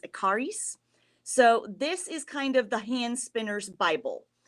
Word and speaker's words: Ekarius: This is called the Fleece and Fiber Sourcebook by Deb Robson and Carol, I think her last name is pronounced Ekarius.